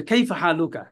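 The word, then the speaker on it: كيف حالك: কাইফা হালুকা মানে কি এটা বাংলা মত উচ্চারণ করবেন না আরবির মত উচ্চারণ করবেন যে কাইফা হালুকা কাইফা কাইফাটা কাইফা আমরা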